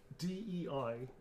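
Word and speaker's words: Dei: D-E-I. Is that Die or Day? How do you pronounce that? D. It's not D. D-E-I. Day. Day. It is Day, isn't it? Deus. Yeah. Day. It's Day.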